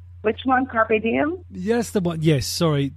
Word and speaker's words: Carpe Diem: rotation, and also we're slotting in is it Carp Diem? Is that correct pronunciation? Which one, Carpe Diem?